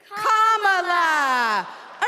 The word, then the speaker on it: Kamala: do you pronounce it first you say comma like a common sentence then you say la like la la la la la put it together and it's one two three comma all right so let's practice